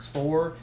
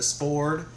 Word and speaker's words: Svord: different ways I've heard Spore and I've heard it pronounced uh more strongly with the D with the sport but I'll go with Spore it's made in New